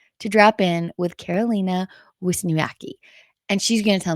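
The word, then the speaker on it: Wiśniewska: And if you speak French, I find it helps to put your French brain on. Okay. And then just repeat after me. It's really easy. Wisniewska. Wisniewska.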